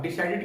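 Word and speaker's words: decided: तो यहां पर भी ईडी का प्रोनाउंसिएशन क्या हो जाएगा, एड। यानी जब आप डिसाइडेड को बोलेंगे तो क्या हो जाएगा, डिसाइडेड, डिसाइडेड, डिसाइडेड।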